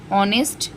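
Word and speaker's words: honest: ऑनेस्ट, H silent है, ऑनेस्ट आएगा।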